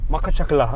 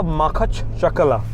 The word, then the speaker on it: Makhachkala: फ़िलहाल पिछले अराउंड 5 साल से जो हम मकाचकला राइट मकाचकला ओके वन सेकेंड मैं कोशिश करूँगा बोलने का मकाचकला ओके इस मकाचकला। सो मैं गलत बोल रहा था, प्रोनाउंसिएशन इजी है, इतना मुश्किल नहीं है।